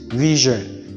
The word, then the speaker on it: vision: that's what is this s is pronounced as gen then we say vision and not vision it is vision then we have decision